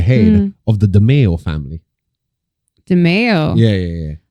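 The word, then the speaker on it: DiMeo: DeMeo? Yeah. Oh, like DeFeo. So DeMeo, literally the only difference between DeMeo and DeFeo is the M and the F.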